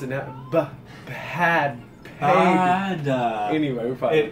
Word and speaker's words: Bhad: So anyway, but you know, I pronounce it now. Bad.